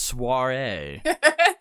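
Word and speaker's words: soirée: read the book you it's soiree yes well hopefully when we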